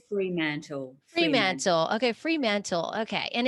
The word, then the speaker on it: Fremantle: So it's called Fremantle.